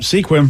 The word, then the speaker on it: Sequim: you did yep yep Sequim yep also stupid well they should just spelled it squim I feel like that